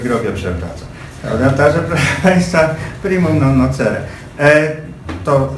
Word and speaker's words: primum non nocere: Natomiast jeden apel tylko bym miał jako zwariowany filolog klasyczny, żebyśmy poprawnie wymawiali primum non nocere, długie e. Dlatego, że nawet pan Adam Sandauer, rzecznik praw obywateli, tych obywateli pacjentów, mówi ze złym akcentem.